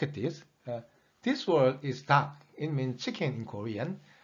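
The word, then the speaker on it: 닭: And there are two more ways of making syllables. Look at this. This word is dak.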